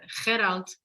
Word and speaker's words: Gerald: The reason why I decided to be in a dialogue and a conversation today with Gerald, that's how you pronounce the name of Gerald in Dutch.